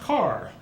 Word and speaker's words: Kerr: mother was a car spelled Kerr but pronounced Carr anybody here been to